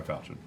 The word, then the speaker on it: falchion: It's pronounced falchion.